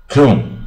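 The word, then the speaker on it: comb: 啊，昏昏欲睡啊。Comatose， coon 啊，就梳子啊，b 不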